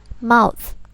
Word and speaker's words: mouth: Mulut bahasa Inggrisnya adalah mouth. Mouth. Mouth. O-nya di sini dibaca A. Mouth.